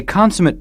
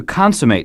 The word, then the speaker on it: consummate: complete or supreme a consummate pianist is an extremely good one nothing is lacking from the way he or she plays consummate is also a verb notice the different pronunciation to consummate something is to finish